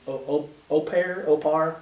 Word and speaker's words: au pair: Or she was an au pair, however it's pronounced.